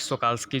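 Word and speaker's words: Shokalskiy: Russian research vessel है academic स्कॉल्स्की में, सोकाल्स्की actual में इसका प्रोनाउंसिएशन है, उसमें सवार है और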